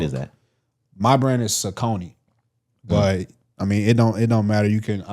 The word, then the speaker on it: Saucony: My brand is Saucony.